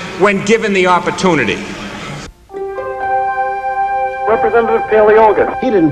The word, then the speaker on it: Paleologos: Representative Paleologos. He didn't pronounce your name right. It was close. It's close all right. Paleologos. Paleologos.